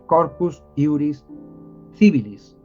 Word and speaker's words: Corpus Iuris Civilis: Roma actualmente sería el Corpus Iuris kibile o sea el cuerpo de derecho civil Corpus Iuris kibella que también se puede llamar kibilis se escribe con c Así que seguramente se lo escucharán a profesores o algún juez decir Corpus Iuris civilis bueno Está compuesto por